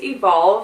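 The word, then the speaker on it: Evolvh: This is Evolve, and it's spelled E-V-O-L-V-H.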